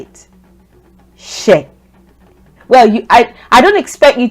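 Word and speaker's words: Ṣ: So this letter is not S. If you're an English speaker, it's not S. It's she. That's what we call this letter.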